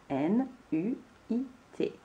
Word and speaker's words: nuit: Et je n'oublie pas le T qui est muet à la fin. N, U, I, T. Nuit.